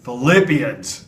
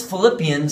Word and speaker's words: Philippians: So since Philippians sounds like the word flip, let's flip our hands back and forth to remember Philippians.